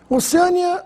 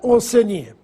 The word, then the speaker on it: Oceania: nóbel como Alguns falam oceânia Oceania já ouvi gente falar oceânia deve ser por causa da palavra oceano mas não confunda pois o nome do continente é Oceania na aula de hoje